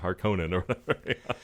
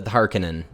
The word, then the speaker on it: Harkonnen: i was like i i always thought it was harkening and yeah i think it is that that's how yeah herbert pronounced it but then yeah like